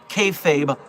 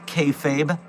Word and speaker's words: kayfabe: of professional wrestling, what kayfabe is. Kayfabe, from the Pig Latin pronunciation of fake, kayfabe is essentially acting.